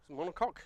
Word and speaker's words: monocoque: it was a monocoque monocoque is how you say it the monocoque chassis so